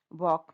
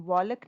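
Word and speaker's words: walk: वॉक, वॉक में L is silent, हम वॉलक नहीं बोल रहे, ल नहीं बोल रहे, तो वॉक ल साइलेंट है।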